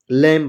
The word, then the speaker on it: lamb: LAMB लैम पढ़ेंगे, लैम मतलब होता है मेमना।